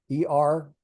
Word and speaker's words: Er: Er, E-R, it's pronounced Er.